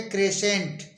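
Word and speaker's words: crescent: ई एस सी ई एन टी इसको बोलेंगे क्रेसें क्रेसें मीस होता है अर्ध चंद्राकार इसी तरह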